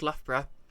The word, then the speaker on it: Loughborough: I was born called Loughborough and that's got the o u g h uh syllable in it twice with different pronunciations like my brother keeps